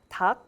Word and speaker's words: 닭: So if 리을 and 기역 is used as the final consonant, then it's pronounced as 기역. So 닭, it's pronounced as 닭.